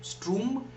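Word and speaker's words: Sturm: m i think its s t r u m stroom and drum d r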